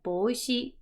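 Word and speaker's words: 帽子: And then up here we have boshi. Boshi. Remember to lengthen out that sound.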